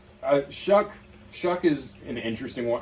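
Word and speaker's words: Shough: I'm happier with Shuck than I would have been with Shador.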